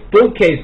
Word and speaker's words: bookcase: 哎， bookcase 读的时候中间那个